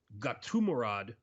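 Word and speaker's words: Gadzhimurad: His name is Gatumurad Antugulov.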